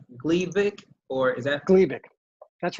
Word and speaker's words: Gleevec: Gleevec.